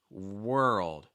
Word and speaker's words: world: number the fifth seed world world it's almost like saying we're old we're old um world